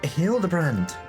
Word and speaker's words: Hildebrand: It's pronounced Hildebrand.